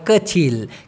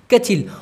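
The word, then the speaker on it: kecil: Malaysian ভাষায় বলা হয় কেঁচিল কেচিল অনেকে বলে কিচি কিচি মিয়া আসলে ওটা ভুল হবে হচ্ছে কেচিল লম্বা লম্বাকে মালয়েশিয়ান ভাষায়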